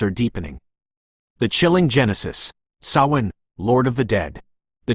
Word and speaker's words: Samhain: The chilling Genesis, Sawin, Lord of the Dead. The true beginning of what is now called Halloween is not harmless fun, but the ancient Celtic festival of Sin, pronounced Saoin.